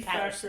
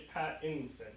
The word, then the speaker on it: Pattinson: The key Patterson. factor. It's Patterson? Patterson. It's not Pattinson? It's Pattinson.